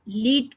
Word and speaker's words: lead: लेकिन अगर वो नाउन है, सेम स्पेलिंग, आप उसको लेड पढ़ेंगे। वो एक मेटल होता है लेड, जैसे कॉपर है, आयरन है, लेड है, सिल्वर है, वो सब चीजें जो होती है ना केमिकल चीजें, वो मेटल में, वो उसका जो प्रोनाउंसिएशन है वो हो गया लेड।